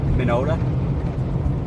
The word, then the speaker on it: Minneota: I think it's Minneota. M-I-N-N-E-O-T-A, Minnesota. It's like someone wanted to spell Minnesota, but they have a lisp, so they got rid of the S's.